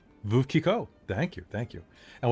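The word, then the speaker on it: Veuve Clicquot: to pop into the chat and you can pronounce this. Veuve Kiko. Veuve Kiko.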